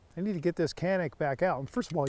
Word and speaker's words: Canik: pronunciation i know that it in europe particularly in turkey it is pronounced differently it's more like shanick but i get so